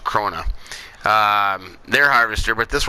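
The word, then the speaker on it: Krone: krona i heard it i heard it pronounced crona and crone i think it's pronounced krona um their harvester but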